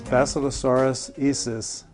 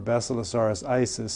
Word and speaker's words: Basilosaurus isis: This is Basilosaurus isis, or Basilosaurus isis, some people pronounce it.